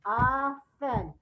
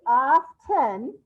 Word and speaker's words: often: people do pronounce it off tin with a t sound but many people do not so that's why it's a red word because we often we often say often without that t sound so there you go